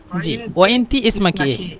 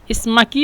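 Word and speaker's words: اسمكِ: ভাই বলুন তো এখানে ইসমাকি এভাবে জিমাক এখানে যেহেতু আমরা ইসমাক বলি কিন্তু এটা পুরুষদের ক্ষেত্রে বলি ইসমাকি বলবেন কিন্তু এই কিটা হাইড করা হবে মানে বেশি উচ্চারণ হবে না যে এভাবে বলবেন নাতি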